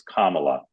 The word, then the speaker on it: Kamala: All right, I'm going to turn you over to my colleagues, but first, as always, friendly reminder, it's Kamala, like the punctuation mark, Kamala.